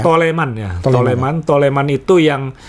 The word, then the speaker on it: Toleman: di F1 naik mobil tolman tolman bacanya Ya toleman Ya toleman toleman itu